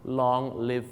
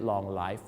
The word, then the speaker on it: long live: สัก ที นะ ครับ long live the king ครับ ผม ขอ ให้ ทรง พระ เจริญ ไม่ ใช่ long life The King นั่น เอง นะ ครับ